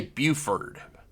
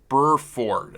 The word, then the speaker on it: Burford: butchering her last name I keep wanting to say Buford but it's Burford and it's it's one of those weird spellings it's just hard for